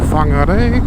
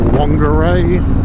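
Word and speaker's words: Whangārei: But yeah, we are just pulling into Whangarei, which a lot of people will call Whangarei, which I believe is quite wrong.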